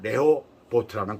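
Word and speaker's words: רחובות: 르호봇이라는 그 단어의 히브리 발음으로는 레호보트라는 그런 말입니다.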